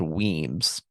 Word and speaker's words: Wemyss: It's spelled Wemyss, but it's pronounced Weems. So he sent Weems to deal with Sumter.